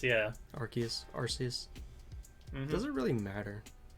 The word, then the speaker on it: Arceus: It's either a key or it's a C, and no one will ever know. Except for when you look how to spell it. Oh well. I mean, even if you spell it with the literal word key in it, people are still going to pronounce it Arceus, yeah.